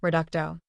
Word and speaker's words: Reducto: Stone statue and shout reducto please remember to stress the second syllable he offered kindly as